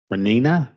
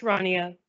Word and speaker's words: Rania: Next, 5.98, Renina. Sorry if I'm mispronouncing that name. I'm sorry. It's pronounced Rania. Rania, thank you.